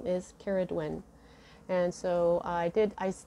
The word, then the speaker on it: Cerridwen: when i looked that up um it was it's spelled differently now but it's a goddess and her name is karaduen and so i did i still need a